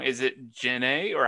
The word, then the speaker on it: Janay: you i was really worried about saying your name wrong is it jenae or how do you say it yeah janae yeah okay it's just yeah okay right on